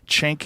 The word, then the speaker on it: Cenk: J you you kind I think it's pronounced Jen chank in the Jank yuger chank